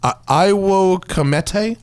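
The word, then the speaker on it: Ai wo Komete: Can you just pull that up so the visual, it's Io Comete? You don't pronounce the W.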